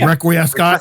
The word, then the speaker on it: Requiescat: Requiescat. Okay. Yes. We I can, do genuinely worry if people don't know how to pronounce it anymore. yeah, we Request can Cat. say Requiescat, but it's called Request Cat.